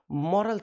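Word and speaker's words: morale: We must follow मॉरल things, हमें नैतिक चीज़ों का पालन करना चाहिए। मराल का मतलब होता है noun, that is pronunciation is मराल।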